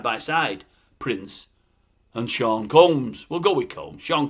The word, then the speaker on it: Combs: Sean, I keep calling him Coombs. Am I supposed to pronounce it Combs? I think I am. There's no double O, is there? Sean Combs.